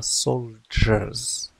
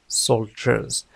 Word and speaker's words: soldiers: لاحظ بأن كلمة soldiers رغم عدم وجود صوت ج فإننا ننطقها soldiers soldiers، وذلك بسبب التقاء صوت الد مع ي، لأنها كانت ستنطق soldier لكن بسبب كما قلت تصادف التقاء هذين الصوتين فهي تتحول لج.